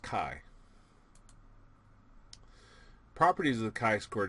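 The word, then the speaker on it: chi: Now what looks like x squar that's kiquare uh that's our kaiquare statistic and again pronounced kai.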